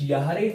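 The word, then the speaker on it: Jahre: ए इशब उन जंजिश यारे आल्ट यारे आल्ट एक्चुअली जो जे वर्ड होता है इसका या प्रोनाउंसिएशन निकलता है जर्मन में ठीक है तो इशज़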